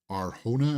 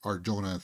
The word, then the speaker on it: Arjona: But anyway, the big seeing Bix back again, Adria Arjona, I think you pronounce it. It's with a J, but I pronounced it Arjona throughout the first season.